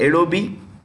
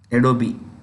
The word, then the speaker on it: Adobe: You know this company called Adobe? Adobe. The E is pronounced, my friends.